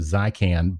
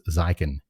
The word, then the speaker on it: Zykan: ping me um because I hear people say your name Zan but I thought it was zyen Zen like Z yeah okay so I